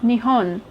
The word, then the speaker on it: Nihon: Nippon being an older pronunciation of Nihon.